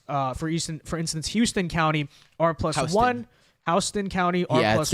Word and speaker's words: Houston: Houston County, R+1 it's pronounced there.